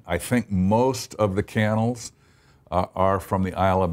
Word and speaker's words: Cannell: interesting because the name looks like it should be canal because of the way it's spelled with two L's but it is actually pronounced candle and most of the